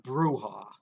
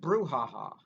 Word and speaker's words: brouhaha: the paper he goes that's not pronounced brouha don't they got don't they have their things don't they have people that know how to pronounce things it's pronounced brouhaha you ever heard the